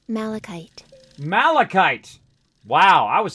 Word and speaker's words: malachite: you can actually play the way it sounds malachite malachite wow i was saying that totally wrong for a very long time malachite malachite is the name of that look we